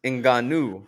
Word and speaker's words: Ngannou: man on the planet francis and ganu as he pronounces it and if he pronounces it that's that way that's probably the correct way to pronounce it i think everybody knows